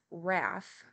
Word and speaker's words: rath: and Gimbal and pronounce wrath to rhyme with bath okay so the way